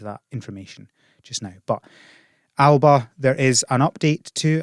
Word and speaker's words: Alba: so uh but i know that it is pronounced alba um so i need to keep i've just